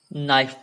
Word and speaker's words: knife: হয় নাইফ বুলি KNIFE নাইফ নটৰ নিচিনাকে যেনেকে আমি নটত কে লেটাৰটোক সাইলেন্ট কৰিছিলো তেনেকে নট পঢ়িছিলো ইয়াতো কে যেটো লেটাৰ আছে সেইটো সাইলেন্ট হৈ থাকিব মানে সাইলেন্ট মানে কি সেই বৰ্ণটোক বা সেই লেটাৰটোক উচ্চাৰণ কৰিব নালাগে বাকি পিছৰ যিখিনি শব্দ আছে সেইখিনিকে লেটাৰখিনিকে উচ্চাৰণ কৰিব লাগিব সো ইয়াত আছে বাকিখিনি